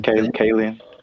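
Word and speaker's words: Kaling: know how to say her last name, Kayen.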